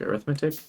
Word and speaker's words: arithmetic: to pronounce that arithmetic arithmetic arithmetic is like the adjective arithmetic is the noun so if if we're